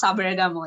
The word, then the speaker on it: Sabaragamuwa: Sabaragamuwa. Yeah. How do you say that, Sachi? Yeah, that's right. That's Sabaragamuwa.